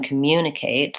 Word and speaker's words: communicate: communicative it's the same as in communicate the mune is the stressed syllable and it stays I don't know if